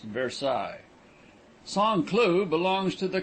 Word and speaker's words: Versailles: miles by rail on the road to versailles pronounced versailles song clue belongs to the canton of severus